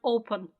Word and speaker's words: open: And after that, where is the stress? Open. Open. On the first syllable, precisely.